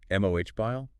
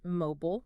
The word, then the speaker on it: mobile: Mobile is another good one. MOH bile. Versus just mobile.